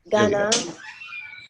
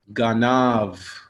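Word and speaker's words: גנב: How would you pronounce this word? Ganav. Ganav. Excellent. Ganav.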